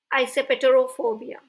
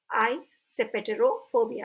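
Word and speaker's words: eisoptrophobia: उसे कहा जाता है आइसेपेटेरोफोबिया। आइसेपेटेरोफोबिया। अगर आपको एक साथ पढ़ने में नहीं बन रहा है तो वर्ड को तोड़ दें बीच बीच में और फिर उसे रीड करें, आइसेपेटेरोफोबिया।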